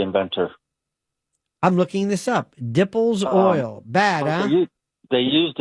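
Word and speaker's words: Dippel's oil: Uh, dimples oil. They It's from rendering cowbones. It's the worst smelling substance. Dimple. Wait, what did you call this now? Dimple. No, dipples oil.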